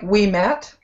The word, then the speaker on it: Ouimet: the current correct pronunciation it's like we met we met so that's easy all